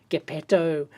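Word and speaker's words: Geppetto: been pronouncing it wrong it's a soft G GTO like Pinocchio's maker thank you very much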